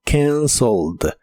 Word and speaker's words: canceled: En el pasado es canceled, es un verbo regular y en el pasado termina con e d, aunque solo se pronuncia la d. Suena como canceld.